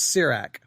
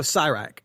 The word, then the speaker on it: Sirach: sir I think it's C Rach I think it's C Rach it's how you say it let me make sure no sigh rack it is sigh rack okay sigh